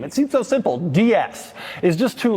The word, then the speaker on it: DS: In French, DS is pronounced as DS, which is also the French word for goddess.